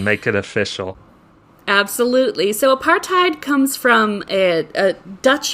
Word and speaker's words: apartheid: that's a good question so apartheid apartheid uh is how uh I suppose a Dutch person would pronounce it um it h it